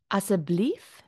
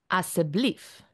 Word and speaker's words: asseblief: school a en conceptional riding let's go fir asseblief mens please and dankie mens thank you let sê how to we pronounced as 'n blief asseblief asseblief and thank you is dankie of baie